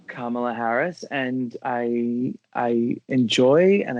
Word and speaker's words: Kamala: It's comma with a la at the end.